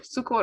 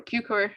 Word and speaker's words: Cukor: George Cukor, or Cukor, as his name is often pronounced, was a great Hollywood director who descended actually from a family of Hungarian origins.